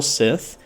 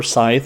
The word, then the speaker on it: Scythe: Then from there, you have the Souls Weapon, which is the Infernal Sith, or Scythe, however you want to pronounce it.